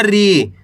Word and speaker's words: री: रा में छोटी ई की मात्रा है रा से री। ऐसे नहीं पढ़ना री। अगर आप खींच के पढ़ोगे री तो बड़ी ई की मात्रा का उच्चारण हो जाए। कैसे पढ़ेंगे? री।